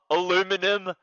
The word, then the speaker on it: aluminum: Oh, aluminum.